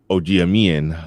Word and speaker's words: Ogiamien: i've been saying ogiamine but it's see i've been saying it i've been saying it's just a hard g and the rest is easy it's just g is hard and that's it yeah yeah yeah it's